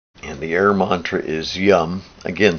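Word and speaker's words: Yam: the air Mantra is Yum again spelled y-a-m like em but pronounced yum for the bijamantra for air here yeah the realization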